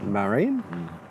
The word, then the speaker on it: Marin: Le 20 mars, la première ministre finlandaise, Marin, Marin, on va dire, prononcer à la française, qui était à New York, a fait une grande conférence à Columbia University.